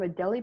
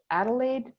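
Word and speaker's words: Adélie: one to look at i've heard a few different pronunciations for this but i've been calling them a deli penguins they're also called adelaide penguins i think it's a difference of british and american pronunciation i was on the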